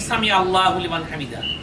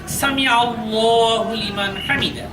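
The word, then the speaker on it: سمع الله لمن حمده: অনেকে অনেকে বলে থাকি সামি আল্লাহু লিমান হামিদা কিন্তু এই উচ্চারণটা সঠিক নয় যেহেতু আল্লাহ শব্দের দ্বিতীয় লামের আগে আইনের উপরে জবর এসেছে এজন্য এখানে লাম খা জবর ল হবে সামি আল্লাহু লিমান হামিদা তারপর লক্ষ্য করুন বোর্ডে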